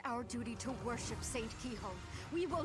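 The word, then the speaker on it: Cichol: Also, it's pronounced keyhole. That's actually what it, how it's pronounced.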